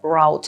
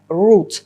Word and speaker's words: route: Зверніть увагу на слово route. Воно перекладається як шлях, маршрут, курс та має два варіанти вимови. В британському варіанті це route, а в американському частіше вимовляють route.